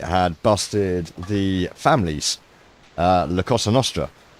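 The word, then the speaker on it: La Cosa Nostra: Um Caspel a few weeks ago announced that the FBI had busted the families uh Lacosa Nostra which he kept mispronouncing as Lacassan Nostra and he got me the house.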